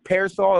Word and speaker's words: PRSL: I distribute from now it's it's parasol is what the name of it is but the way it's spelled is P RSL and what does that